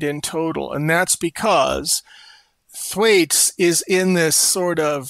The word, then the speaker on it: Thwaites: And how do you pronounce that glacier? Thwaites. Okay. Yes. So Thwaites.